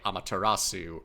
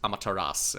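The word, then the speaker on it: Amaterasu: pronounce it but apparently in Japanese that extra little syllable the S the Sue there is not actually pronounced so in English you would probably hear people say amatarasu or in the OR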